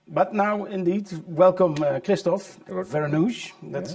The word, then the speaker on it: Vereenooghe: But now, indeed, welcome Kristof Vereenooghe. That's how you pronounce it in English.